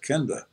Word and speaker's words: Kenda: said you mean my name yeah i said kenda kenda welcome to the greatest show on earth